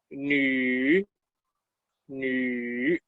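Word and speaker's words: 女: Y nu, ya le hemos visto muchas veces este carácter, se pronuncia nu, nu.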